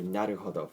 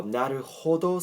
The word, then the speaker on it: なるほど: So actually this case is very similar to in English pronouncing the word what or when, even though H is in it, okay, H is very slightly pronounced, right? So what sounds weird, right? So what? So the same case, okay, the same thing is applied to this word.